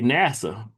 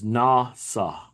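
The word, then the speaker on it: נשא: So when you look at the pronunciation right here, it says Nasa, Nasa, Nasa. And so it's not NASA, like NASA. It's a whole different pronunciation, so it's a different word.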